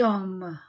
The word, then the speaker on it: homme: voyelle oh ici et je ne prononce pas le H et ici il y